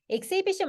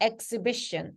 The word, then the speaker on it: exhibition: exhibition 말고 exhibition, exhibition, 요거 써. exhibition이라고 발음합니다.